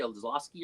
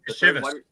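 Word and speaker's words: Iosivas: Is it Andre Olszewski or how you pronounce his name? Shivas.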